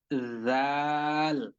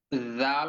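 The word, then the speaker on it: ذال: জানিয়ে রাখি সেটা হচ্ছে জাল অক্ষরটা কিন্তু একদম ধা অক্ষরের মত করে আমরা পূর্বে যে একটি অক্ষর পড়েছিলাম ধা সেই থা অক্ষরটির মত করেই উচ্চারণ করতে হবে শুধুমাত্র পার্থক্য বা পরিবর্তন হচ্ছে ছা অক্ষরটির উচ্চারণ ছ এর মত আর জাল অক্ষরটির উচ্চারণ অন্তর্জ এর মত হবে তাহলে হুবহু ছা অক্ষরের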